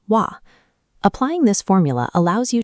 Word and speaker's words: は: Normally, this character is read as ha, but because it functions as a topic marking particle here, its pronunciation changes. In this context, you must pronounce it as wa.